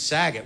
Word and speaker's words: Saget: got made fun of my last name's saggit which rhymes with stuff you know i didn't